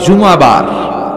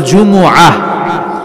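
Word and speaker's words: جمعة: সূরাটার নাম হচ্ছে সূরাতুল জুমুআহ। আমার সাথে সাথে বলেন সূরাতুল জুমুআহ। সবাই বলেন সূরাতুল জুমুআহ। অনেকে বলে ফেলে জুমা। জুমা আসলে আরবিতে শুদ্ধ উচ্চারণটা হচ্ছে জুমু আহ, সূরাতুল জুমু আহ।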